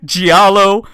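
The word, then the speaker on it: giallo: got it right that time that was it gialo blood soaked Screamfest like Clock Tower Silent Hill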